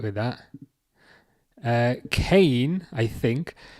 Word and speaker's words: Kane: Oh, is it Kane? Sorry. Is that how you pronounce it? Kane. I'll remember that. I was like, is it Ken? I think I'm doing it wrong, but it's Kane.